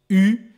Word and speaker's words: eu: But strangely enough, this EU by itself is pronounced U.